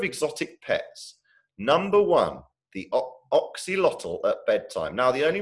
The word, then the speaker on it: axolotl: Number one, the Axolotl at Bedtime. Now, the only reason I know how to pronounce axolotl is because once I went to